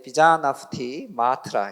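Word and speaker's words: vijñaptimātra: 그래서 인도 말은 되게 글자 그대로 읽으시면 돼요. 이 자나 푸띠 마트라 이렇게 읽으시면 돼요. 조금 빨리으면 이제 비자나프티 마트라 이렇게 읽으시면 되는데에 인도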